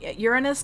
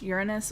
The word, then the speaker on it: Uranus: Uranus can be pronounced Uranus or Uranus. It's both are acceptable from what I understand.